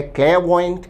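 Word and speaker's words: clairvoyant: शब्द का उच्चारण है क्लेयर वॉइंट।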